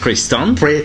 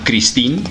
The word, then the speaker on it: Christin: El guionista es Pierre Christin, o bueno, Christine, se lo podría decir así, es la pronunciación en español.